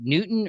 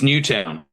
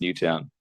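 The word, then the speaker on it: Newtown: It's New Town. Um it it is town but I do I have a friend who last name is but yes the suburb of Sydney uh is is pronounced New Town.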